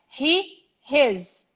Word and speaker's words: his: He, his. With a Z sound in the end, right? Exactly.